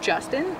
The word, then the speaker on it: Justan: it's like it's pronounced Justin, but it's Justan.